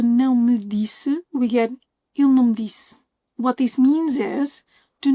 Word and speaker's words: ele não me disse: From ele não me disse, we get il não me disse. What this means is, do not expect important words like não to be pronounced super clearly.